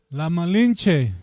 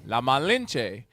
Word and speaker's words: La Malinche: La Malinche. La Malinche.